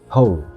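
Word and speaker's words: who: itu kemudian ini ya ternyata w-nya enggak dibaca ho ho ho kita dengarin ho ho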